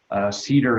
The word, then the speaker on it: CEDR: Cedar is one, which is spelled CEDR, from Tucson, or Bent Erickson from Oregon.